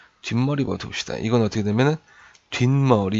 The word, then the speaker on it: 뒷머리: 둡시다 이건 어떻게 되면 뒷머리 이렇게 발음 해요 뒤 머리가 아니라 뒷머리 그쵸 여러분도 뒷말이 라고 하죠 뒤 머리 안 하죠 비 물 알아